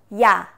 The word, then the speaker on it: ㅑ: а-а молодцы умницы а следующая буква это я я точно также произносится как и русская гласная я я а и это